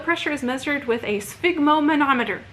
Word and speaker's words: sphygmomanometer: Blood pressure is measured with a sphygmomanometer. You've got to try saying that. If you don't know how to say it, sphygmomanometer.